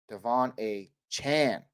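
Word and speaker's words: De'Von Achane: man's name is it Devon a chain or is it Devon a Chan Devon a Chan okay that's what I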